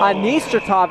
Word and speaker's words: Anistratov: Anistratov is the correct pronunciation.